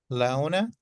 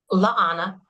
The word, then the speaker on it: Laana: Laona, did I pronounce it right? Leona? Laana. Laana. Yes.